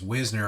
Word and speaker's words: Wisner: It's Wisner, apparently, is the correct pronunciation. We've gotten that wrong, too.